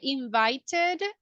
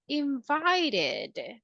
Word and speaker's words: invited: we can say started in the case of invite we can say invited or we can say invited so basically we are